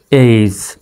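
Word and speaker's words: age: তো এখানে এ জি উচ্চারণটা হবে এইজ, এই বর্গীয় জ, এইজ।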